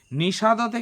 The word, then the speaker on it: নিষাদ: হবে দেখো মা নিষাদা নিষাদতে কিন্তু হসন্ত নেই বিসর্গও নেই তাই এখানে উচ্চারণ হবে অ এর মতো মা নিষাদা প্রতিষ্ঠাং তয়ামাগামাহামা গামাহা বিসর্গ